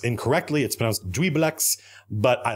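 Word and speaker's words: Juiblex: of the character I think Vecna Vecna Tiamat jubal X who I pronounced incorrectly it supposed we blacks but I like Jubal X better and I'm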